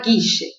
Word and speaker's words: Guille: Guille. No argentinês fala Guiche. El hermanito Guiche.